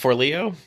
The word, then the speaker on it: Forleo: It's just Forleo.